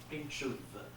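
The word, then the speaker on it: Pinczów: And apostrophe, now remember apostrophe on the O. And it's pronounced the U. Pinchot.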